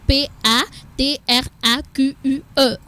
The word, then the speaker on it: patraque: pas trac on est pas trac quice qui s'écrit P a T R a Q u e c'est tout pour de C je sens que